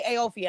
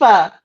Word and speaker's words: Aoife: I keep wanting to say Aophia, and I know that's not it. How do you pronounce Come on, it? Queen, Please, help us out a beautiful little queen. bit. Aoife, Aoife.